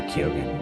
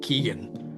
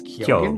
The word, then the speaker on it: Keoghan: I was just like Keegan. I always thought it was, but then I heard it pronounced. It's I'm pretty sure it's Keoghan?